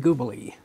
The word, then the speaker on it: Gubeli: And today we have a gentleman, a young man, all the way from Tennessee, Ian Gubeli.